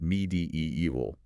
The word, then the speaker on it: medieval: The issue here is that archaic E combination. It should be pronounced med evil, stressing the third syllable and maintaining that long e sound in the middle.